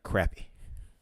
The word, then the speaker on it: crappie: at the storm here crappie yeah that's a little different over here over here we pronounce them as uh crappy it's one of the